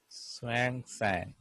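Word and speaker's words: Xuanzang: so H is H hang okay yeah s is silent Swang sang Swang sang SW swing sang okay it's a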